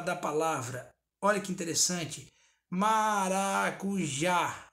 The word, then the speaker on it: maracujá: Maracujá. Ó, maracujá. O já tem um certo destaque, então ele é a sílaba tônica.